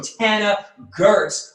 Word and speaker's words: Tana Goertz: a lesson on it it is like Hannah but pronounced and mentioned with a t so Tana Gertz welcome to the show